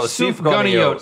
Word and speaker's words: Sufganiyot: Oh, Sufganiyot. So it's a. Y'all got this from a donut store, I can tell. So we've got a raspberry-filled donut. Jelly-filled donut. You call it a Sufganiyot.